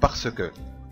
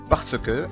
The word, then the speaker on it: parce que: طيب ننقل بعد كده على parce que. parce que، لأن، parce que. parce que. طيب في النطق السريع ساعات نلاحظها إنها بتنطق parce que.